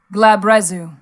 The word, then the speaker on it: Glabrezu: Glabrizu? No idea. Okay. I have D&D Beyond up. I have Matt Mercer. I'm certain voiced it. Let's see what he says. Glabrezu.